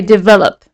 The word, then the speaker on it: develop: Okay, so let's have a look at the verb maybe develop, right? Where is the stress here, guys? The stress is on the second syllable, right? Develop.